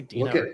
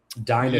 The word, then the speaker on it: Dinah: Dana, I always say Dina. First of all, can Dinah. I know it's Dinah.